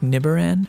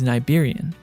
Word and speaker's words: Nibiran: And finally, we can confirm that although it is spelled to sound like Nibiran, the proper pronunciation is Niberian.